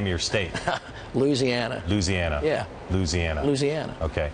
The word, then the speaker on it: Louisiana: name of your state Louisiana Louisiana yeah Louisiana Louisiana okay it depends on what part of the state you're from you can call it Louisiana but nans Louisiana just let it rip